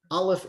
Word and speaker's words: Aleph: Aleph is silent. It takes on the sound of whatever vowel it is paired with.